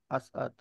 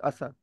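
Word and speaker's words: أسعد: तो प्रॉपरली अद जो है वो अस प्रोनाउंस हो जाने के बाद अद प्रोनाउंस हो रहा है, असअद, नॉट लाइक असद।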